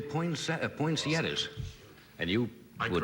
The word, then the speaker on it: poinsettia: I would say poinsettia poinsettias and you I would like to correct with me every year because it's point at points poinsettias poinsettias and you said it wrong I'd say you said points yes this man's not